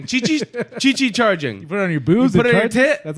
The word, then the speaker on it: Qi: Qi Qi targeting Chi it's not it's not cui it's like Chi or something I forgot